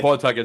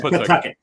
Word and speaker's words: Pawtucket: But the thing is, when I moved to Pawtucket, the year that they moved to Worcester. Which is not Pawtucket, as some people call it. That's not Pawtucket. It's Pawtucket. There's no W. There's no W in there.